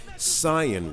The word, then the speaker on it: Saiyan: The only real way I can describe him is that he's basically an all-powerful Saiyan warrior, or Saiyan warrior, because let's be honest, that is legit how it's spelled, who was born with immense power on planet Vegeta.